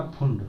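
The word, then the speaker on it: Pfund: या फिर LBPB, या इसको भी आपको पता है फुंड जब P साइलेंट है, या आप रख सकते हो BPBP, क्या रख सकते हो LBPBP।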